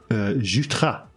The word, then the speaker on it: Jutras: Etienne Saint-Pierre, Avec Caron, and Sébastien Jutras, I believe is correct pronunciation.